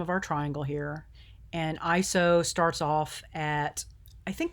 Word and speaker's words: ISO: to talk about is called iso it is pronounced iso like that iso um it is actually an acronym and i